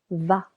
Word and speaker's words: vas: Tu vas. Silent S.